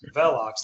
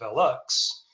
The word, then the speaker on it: Velox: So, you got you got VOCX, you got Velocks. Velox, that's really the real pronunciation. You've got what uh our CPO Paul Bradley calls Velux and then I don't